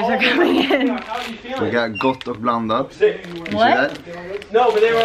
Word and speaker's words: Gott och blandat: Gott and blandat. Gott och blandat.